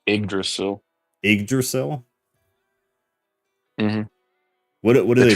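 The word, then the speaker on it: Yggdrasil: is that yra yrail oh Norse pronounced igdrasil igdrasil what what do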